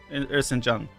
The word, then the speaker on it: Erzincan: So the thing I took here from it is pronounced Erzincan.